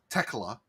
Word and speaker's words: Tekla: Tekla. Oh, okay. So it's like teclado, but just tecla.